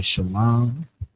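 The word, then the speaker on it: שלום: Make sure you guys understand because the words that we're going to go over the shalom, that's how we say it.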